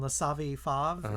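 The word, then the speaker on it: Les Savy Fav: uh Pat was in laav fav is how you say it yeah and Nancy was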